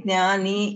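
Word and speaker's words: ज्ञानी: No, even in Kannada, actually we should say Gnani, Yagna, all these things. They say Yajna. Correct. It is wrong. We do Gyani. We do Gyani and pronounce it Gyani. Actually, we do write it like Sanskritam. Okay? Yeah. Like this. Okay? We write it like that. But we read it like this. No, we read it as Gnani only, not Gyani.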